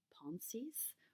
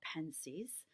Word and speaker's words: Pensées: I chose to read blaze Pascal's palm seas or penzeys depending on which pronunciation you want to go with I'm going to go with the English ones so we're going to